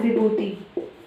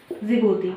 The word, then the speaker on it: जिबूती: डी से क्या है, जिबूती। यहाँ पर डी साइलेंट रहता है। ठीक है, जिबूती।